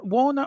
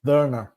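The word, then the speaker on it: Werner: really pleased with verer is it Warner or ver V pronounced W as a v in German verer verer verer um I'm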